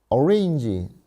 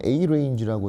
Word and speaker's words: arange: arrange 또는 arange라고 읽어도 되고요.